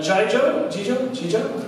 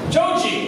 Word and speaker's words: Joji: uh this is a song by uh Jai Joe actually I pronounce his name so it's called slow dancing in the dark junkie joji thank you my life YouTube waiting for